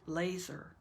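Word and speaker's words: LESR: out through your nose l-e-s-r pronounce the acronym like laser stands for locate embrace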